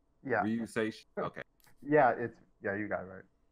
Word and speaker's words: Ryuseishun: That's how you pronounce it, right? Yeah. Ryuseishun.